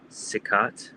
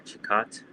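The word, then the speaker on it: Cicotte: Um, I'm gonna butcher his the pronunciation of his name, but it was Eddie uh Eddie Plank and Eddie Sikat or Chicat. I think it's Sikat.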